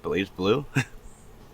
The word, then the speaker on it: BlazBlue: So let's start with, am I pronouncing that right? Blazblue?